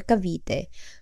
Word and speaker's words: Cavite: formation along Bacoor bay the pronunciation shifted to kte or kavite due to the absence of the letter k in the castilian alphabet prompting the substitution of w with V to align with Spanish pronunciation the northern tip or